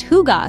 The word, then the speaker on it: hygge: Hygge, pronounced hygge, sort of.